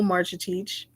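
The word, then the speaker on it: Marcetic: So the good bread is from a piece by friend of the show, Bronco Marchitich. That is how you pronounce his name, Marchitich.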